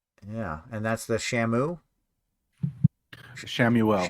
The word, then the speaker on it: Chamuel: Shamuel. Shamuel. Okay, how do you spell that?